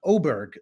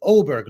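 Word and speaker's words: Åberg: uh it's it's pronounced oberg that little those two dots on top of the a apparently in Swedish mean you pronounce it oberg ludvig oberg uh this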